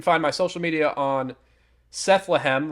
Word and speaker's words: Sethlehem: If you order on PayHip, it's a little bit cheaper, and you can find my social media on Sethlehem, rhymes with Bethlehem, but with Seth, and that's on X